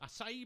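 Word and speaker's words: açaí: Acai bowls.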